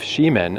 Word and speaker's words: Ximen: landscapes and settlements of Ximen. Again, this is so weird because it's Ximen, S-H-I-M-E-N, where the neighborhood I love so much, X-I-M-E-N, is also pronounced Ximen.